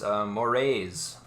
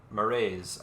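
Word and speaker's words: Mraize: And it's spelled Mraiz, so whatever vowel you want to put between M and R. Moraes. All right, whatever. I guess I give it an just to a short little UH sound, Yeah, I was saying Moraes.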